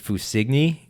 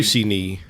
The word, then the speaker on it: Fussigny: sure, but it's Dave Fussigny Cognac XO. Hey, you did better than I could. I'm assuming that's how you pronounce it. So, do you It's all actually Fussigny.